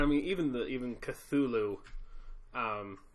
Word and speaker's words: Cthulhu: good point Solomon you may have heard it pronounced tattoo good yeah but that's not the way it is it's Cthulhu kazoo yep or you want to have seen